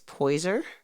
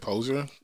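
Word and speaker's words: Poyser: Eric Badu and James poiser is that how you say his name poiser poer I always said poser that guy I would say poiser so yeah um that's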